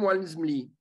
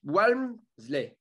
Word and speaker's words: Walmsley: non mais LMSL, excuse-moi, le mec, il commence déjà son nom par un W déjà, et après c'est Almsley. Enfin, ouais. Walmsley.